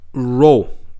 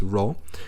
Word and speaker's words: rho: with the Greek letter, this one, Greek letter, rho. Okay, this is how you say it. This is the name of the letter is rho.